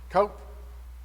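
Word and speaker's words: Qoph: The next one is Cope, but you can pronounce it with a Q or a K.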